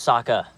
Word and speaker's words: Sokka: My name's Sokka. Rhymes with Aka.